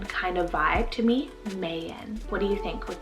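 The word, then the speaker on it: Mayon: adventurous speaking of adventure i have the name mayan spell m-a-y-o-n mayan this is derived from the beautiful volcano in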